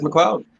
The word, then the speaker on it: McLeod: Is it McLeod, or am I saying it wrong? It is McLeod.